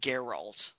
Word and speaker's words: Geralt: And it's Geralt. Awesome. You dunce. Jeez. Is it? That's how they pronounce it in the voice acting sometimes.